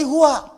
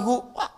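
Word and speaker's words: هو: Hu itu singkatan dari huwa. Singkatan dari huwa. Hu disingkat huwa. Kalau Anda wakaf membaca kalimat bahkan dalam bahasa Arab, apalagi Al-Quran, berhenti pada kalimat huwa, maka huwa-nya nggak bunyi.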